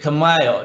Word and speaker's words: Khmer: That's how you pronounce it, Khmer, not Khmer.